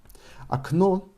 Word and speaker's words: окно: Окно is emphasized on the last o. Окно. And because first o is not emphasized, it is pronounced as a. Окно.